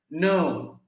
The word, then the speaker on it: know: Tapi kalau ada KN ini maka K-nya dianggap tidak ada, itu nggak usah dibaca. Ini bacanya no, no, kayak no aja.